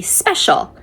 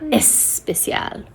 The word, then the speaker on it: special: So the word would be special, but in Spanish it's especial, and it's really challenging for them to remember, no, I don't use that extra in front of it. We just say special. It's not especial.